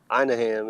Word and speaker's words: Anaheim: know to do out there in Philly but Anaheim is the way it is pronounced I don't know if you know but